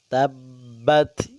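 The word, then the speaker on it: تبت: দেওয়ার চেষ্টা করব তাব্বাত তাব্বাত ইয়াদা তিন আলিফ টান তিন আলিফ টান দিতে হবে এখানে আবি লাহাবিউ [সশব্দ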